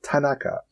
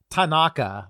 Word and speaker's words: Tanaka: But the thing that throws me off about it is there's no accents on syllables. Like all syllables are equally pronounced. So okay. it's not Tanaka, like we would like do in English. It's Tanaka.